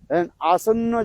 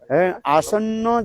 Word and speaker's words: आसन्न: तिजग जनी प्राप्ति लालसा आसन्न जनता हित विोलन याद रखना क्या बोला आसन्न जनता हित विोलन आपके उच्चारण नहीं आसन अरे संस्कृत शब्द है आसन्न जनता हित विोन रहने